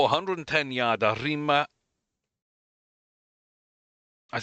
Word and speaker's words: Arima Kinen: But Nakayama, mile 4, 110 yard, Arima.